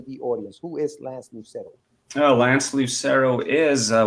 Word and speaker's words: Lucero: last name for us because i think i butchered it it is lance lucero lucero all right man so welcome welcome to catch